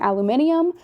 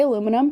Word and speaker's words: aluminium: him by just him saying aluminium which i understand is how you say aluminum in the uk with like improper english um we say aluminum here in the states because we're awful no